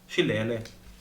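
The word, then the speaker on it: Shillelagh: How would you pronounce that spell? It's Shilele.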